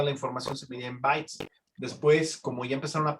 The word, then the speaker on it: byte: La unidad más conocida, por ejemplo, en computación es el byte. Bueno, se escribe así, pero se pronuncia así.